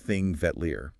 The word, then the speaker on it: Þingvellir: So, let's start at the beginning, both on the route and really for the whole nation, King Villa National Park, and that's pronounced thing Vetler.